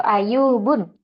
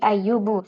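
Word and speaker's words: أَيُّوبُ: tidak boleh ada tanwin bukan sulaimanun atau daudun atau ayubun tapi ayyubu sulaimanu yaquubu nah seperti itu jelas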